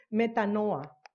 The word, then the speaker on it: metanoia: un pastor griego que me enseñó cómo se dice en griego no en el español y se dice meta no a nosotros leemos que al